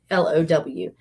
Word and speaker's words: Below: This guy has been keeping an eye on this other guy, this guy named Chris Below, and it's spelled like the word below, Bellow.